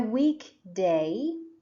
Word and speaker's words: weekday: school on these days remember that weekend and weekday have the stress on the first syllable week that's why it